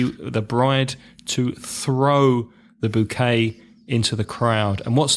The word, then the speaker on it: bouquet: bouquet of flowers okay bo u qu et are you gonna tell us how you pronounce that in French bouquet bouquet bouquet sounds much better in French doesn't it bouquet a drama of